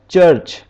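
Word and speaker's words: church: की यह कफ की आवाज़ निकलता है जैसे churrch यहां पर इसने चेक की आवाज़ निकल है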